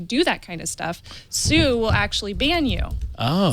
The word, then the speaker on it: Tsu: The T is silent. I thought it was like the legal action. I believe it's because it's Asian made, and in Japanese, if you pronounce something that's TS, it would be Su with the S. Su. Yeah. Su. Like tsunami.